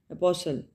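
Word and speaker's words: apostle: अपोसल अपॉसल में T silent होगा। ठीक है? लेटर टी जो है वो साइलेंट होगा।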